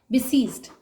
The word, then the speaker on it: besieged: Right spelling जो होगी वो होगी सीज, SIE, सीज, IE, लंबा सा प्रोनाउंसिएशन आ रहा है इसका, BESIEGED, बिसीज्ड।